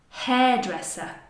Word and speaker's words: hairdresser: lesson, For example: fireman, hairdresser HAIRDRESSER: this is a compound noun. There are two words together: "hair" + "dresser" So we're going to stress the beginning of each: "hair: + "dresser" In